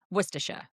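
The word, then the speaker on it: Worcestershire: Worersher.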